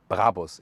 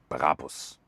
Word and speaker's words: Brabus: By the way, listen and repeat, Brabus. It's not Brabus or something. The original German pronunciation would be Brabus. Really hard German pronunciation.